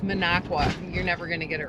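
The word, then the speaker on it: Minocqua: It's Minneago.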